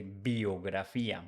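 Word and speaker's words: biografía: that at the beginning in English you say bio whereas in Spanish we say biographia bio b a trick there in pronunciation let's see another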